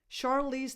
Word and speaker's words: Charlize: Charlize, the first sound is a sh, not a ch. Charlize Theron. This is the way she pronounces her name in English. So she's internationally known as Charlize Theron.